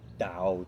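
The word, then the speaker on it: Tao: And there's 81 verses in the ta in the dao. It's pronounced with a d spelled with a t and the dao tq ching.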